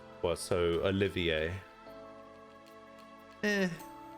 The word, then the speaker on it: Olivier: RIT H yeah well I'm perfectly happy you're going for French then it's Olivier I mean I guess I could could just say it the German way I could just say Olia it's definitely not that though my name is OE four French style is what the original games original game uses well so Olivier eh